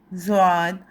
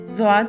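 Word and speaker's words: ضاد: سکے۔ زال، زے، زواد۔ زواد کو عربی میں دواد بھی کہا جاتا ہے، لیکن اردو میں ہم اس کا تلفظ زواد ادا کریں گے۔ اور زوئیں، یہ چاروں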